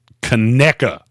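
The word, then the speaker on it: Conecuh: to eat seven Tums before I eat it cona is what it's called cona yes big c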